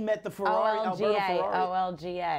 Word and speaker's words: Olga: O-L-G-A. It's O-L-G-A, O-L-G-A. Our Lady of Grace. But it's pronounced Olga.